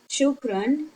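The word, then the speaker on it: شكرًا: Okay, why do we pronounce noon here? Shukran. Although we don't have noon. Because we have this. This is called tanween.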